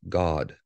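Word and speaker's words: Gad: 12 as well and it's pronounced God g a WD strongs h148 right so that is a known thing from the Strong's Dictionary and that it's pronounced just how we pronounce that today and we're told not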